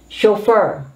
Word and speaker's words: chauffeur: used by lords by people of the nobility chauffeur chauffeur take note of this spelling is a